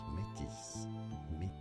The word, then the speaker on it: Métis: Announcing it, this is originally a French word for people of mixed blood. French, and in French it is therefore métis, pronounced as Métis. Métis. Métis.